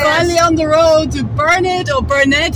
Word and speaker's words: Burnet: We're finally on the road to Burnet or Burnet, how do you pronounce Burnet. It? Burnet.